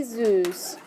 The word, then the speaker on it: süß: So you could say, wie süß. So Zeus like the god. Okay? That's how it's pronounced.